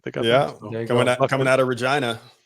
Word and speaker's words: Regina: They got coming out of Regina. Right, lucked into that one. City that rhymes with fun.